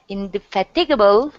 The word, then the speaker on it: indefatigable: demanding and in in that how can I pronounce it indefinite oh yeah indefatigable diggable yep indefatigable natural is a key of success success okay so um he had in the first couple yeah indefatigable yeah terrible no in the first couple in